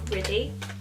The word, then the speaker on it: Ridhi: pronounce my actual name my name is pronounced as pretty and I'm probably saying it in the most British way fo because I'm sure